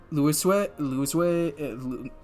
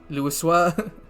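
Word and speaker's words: Louisoix: It's French. I know the X is silent. Louiswe, God fucking damn it. I heard him say it. Louiswa. It's clearly French pronunciation.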